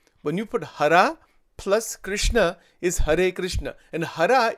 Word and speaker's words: Krishna: Bhagwan ko, it doesn't, because people in North India say Krishna. In Gujarat, they say Krishna. The actual pronunciation is Krishna.